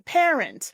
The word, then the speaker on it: parent: The syllable stress is on the first one, parent.